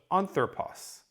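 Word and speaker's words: ἄνθρωπος: So anthropos. The accent mark on anthropos puts the emphasis on this initial syllable.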